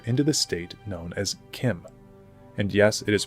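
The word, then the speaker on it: CHIM: yes it is pronounced Kim I know it deeply upsets me as well but the CH is pronounced as a k okay that's the shim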